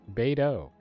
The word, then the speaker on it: Beidou: Beidou. So, I've been pronouncing that completely wrong.